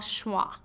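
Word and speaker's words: schwa: in many unstressed syllables the sound is called schah and it sounds like uh imagine you forgot what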